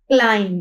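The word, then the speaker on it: climb: अब यहां पे देखते हैं फर्स्ट जो हमारे पास वर्ड है सी एल आई एम बी क्लाइम। क्लाइम है ये बी जो है हमारे पास क्या है? साइलेंट लेटर है।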